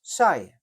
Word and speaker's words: Saille: The Ockham name is pronounced as Saye.